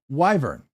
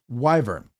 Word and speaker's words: Wyvern: Thank you Wyvern. Wyvern and I would have pronounced it like I thought it was a short I but Wyvern. Thank you for pron for correcting me.